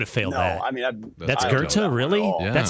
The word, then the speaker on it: Goethe: I mean, that's Goethe, really? Yeah. That's how you say that? That's German, yeah. VONGOETH. That's Goethe? Goethe. Wow. You don't pronounce the TH.